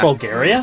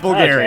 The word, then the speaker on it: Bulgar: Are we near Bulgaria? How's it? Bulgar, not Bulgaria. Okay, I thought we were in Europe for a second.